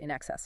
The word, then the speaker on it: INXS: By 1979, they'd changed the name to INXS, pronounced NXS, of course, started playing under that name September 1st79.